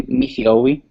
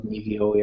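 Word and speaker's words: ⲛⲓⲫⲏⲟⲩⲓ: It's like a PH sound, so Nifi-Owi, as opposed to, it wouldn't be like a V sound, for example, Nifi-Owi, or it's just a F sound.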